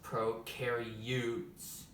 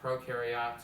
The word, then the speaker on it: prokaryotes: have prokaryotes eukaryotes and no it is not pronounced pro carry use or you carry yachts or who carry boats is pronounced prokaryotes and eukaryotes come on camera guys say it